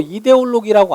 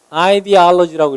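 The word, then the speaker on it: ideology: 이렇게 쓰는데 영어로 이데올로기라고 안 읽어. 여러분 이거 뭐라고 읽을까? 아이디올로지라고 읽어요.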